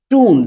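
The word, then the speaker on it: tomb: आपको स्पष्ट होंगी कि एम के बाद अगर आपको बी दिखाई देता है तो ऐसी कंडीशन पे इसे बी नहीं पढ़ते साइलेंट होता है इसे पढ़ते हैं टू टू का मतलब होता है कब्र इसे टू पढ़ते हैं और भी एग्जांपल है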